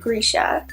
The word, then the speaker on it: Grisha: first book in the Grisha trilogy I actually think she pronounces it Grisha I think I saw on her a little Instagram story she called me a Grisha anyway this is the